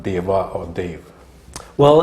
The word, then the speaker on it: Dev: Well, it really is Dev, and when I write my name, I still write it D-E-V, Dev. But as you know, when Indians pronounce Dev, it sounds a little like Dave to Australians.